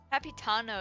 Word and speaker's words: Capitano: Capitano is how you say it. I guess it's similar to Cappuccino.